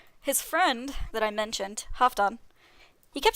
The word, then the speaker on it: Halfdan: But, he kept saying Halfdan, which is very close to what the name means. It means half Dane, so half Danish. But in the Old Norse pronunciation, I believe it would be Halfdan.